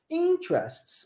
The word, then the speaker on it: interests: dos grupos da imersão muito comumente em inglês a sílaba tônica mais forte É no início da palavra que é o caso aqui interests interests olha como é que